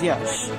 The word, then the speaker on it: Yaas: category before making landfall the severe cyclonic storm yes pronounced as yash over east east central bay of bengal moved